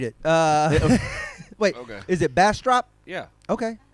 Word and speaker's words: Bastrop: and i were in dallas you were in bastrop um yes and trey you are hard to